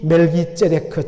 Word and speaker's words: 멜기세데크: 그러므로 멜기세데크라고 발음을 해야 정확합니다. 이 멜기세데크 즉 멜기세덱은 이름 자체가 의의 왕이라는 뜻입니다.